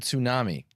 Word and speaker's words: tsunami: Because TS is a phonotactic constraint in the English language. And tsunami is not a native English word. I'm not sure where it comes from, the etmology of it, but you don't have TS.